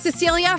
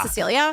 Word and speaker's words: Cecilie: It's Cecilia from Tinder Swindler. It's spelled Cecile, but it's pronounced Cecilia.